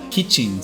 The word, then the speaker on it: kichin: the new series the Kichin series. The company's insistence of using the Japanese kichin pronunciation of the Western word kitchen rather than the Japanese